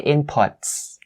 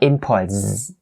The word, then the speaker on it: inputs: to make it plural, it has to be pronounced as voiceless as well. So in this case, you say inputs, not inputs, right?